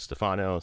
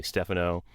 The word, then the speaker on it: Stefano: is frequently screwed up I pronounce it Stefano some people call me Stephano my son's recent High School awards ceremony they call him d stano That's not right either but anyway this school